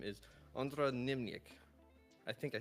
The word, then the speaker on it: Němčík: could you correct me, please? Yeah. It's Ondra Němčík. Němčík. Němčík. Okay, Yes. Němčík. Gotcha. Okay, so it's that last syllable that caught me off guard.